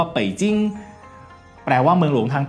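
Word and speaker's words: 北京: คือ ปักกิ่ง หรือ ว่า ภาษา จีน กลาง ออก เสียง ว่า เป่จิ๊ง แปล ว่า เมือง หลวง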